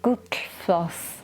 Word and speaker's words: Gullfoss: Now it's spelt, I'll put it on the screen now, but you don't pronounce it as you think you're going to pronounce it in an English way. You pronounce it Gullfoss.